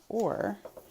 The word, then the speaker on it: ore: like the first word or but i have a vowel at the end that is silent it's not ori we